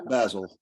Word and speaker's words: Basil: Am I pronouncing, is it Basil or Basil? It's Basil. Okay, good. I'm pronouncing it correctly.